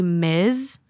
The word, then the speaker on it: Ms: and that's still me and Ms is actually Miz where it's a single